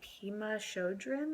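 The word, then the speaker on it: Pema Chödrön: Um, it's by Puma Shodrin, I think is how you pronounce her name.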